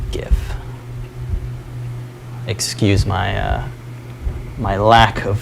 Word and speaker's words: GIF: And there's also a GIF, hard G GIF.